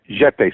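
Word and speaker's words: Getae: basically telling me about the ancient Jete, the jet call them like the Jets. Jete, spelled with a G.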